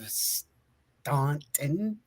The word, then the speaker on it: Staunton: Tonight's show is brought to you by GOS, Ghosts of Stanton, Virginia. Depends on how you say it. It's actually pronounced as Stanton, but it's spelled Staunton.